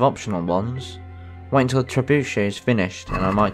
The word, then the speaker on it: trebuchet: go and watch the trebuchet test or trebuchet test people say it differently I think some people even say trebuchet but that's wrong I don't think you pronounce the T now let's see how